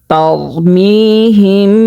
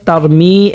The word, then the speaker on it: ترميهم: ألم تر كيف فعل ربك بأصحاب الفيل ألم يجعل كيدهم في تضليل وأرسل عليهم طيرا أبابيل ترميهم بحجارة من سجيل। প্রিয় দর্শক, তারমি এখানে 1 আলিফ পরিমাণ টানিয়ে পড়তে হবে, মধ্যে তবাই হয়েছে।